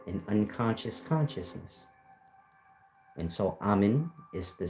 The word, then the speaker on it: Amen: Of course, you have Amen, truly spelled A-M-N, which is pronounced Am. Am is basically the sound.